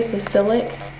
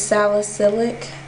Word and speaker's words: salicylic: refreshes and twos Neutrogena sacylic acid I think that's how you say it oh I say it wrong I say sicilic it's salicylic Sally silic yeah success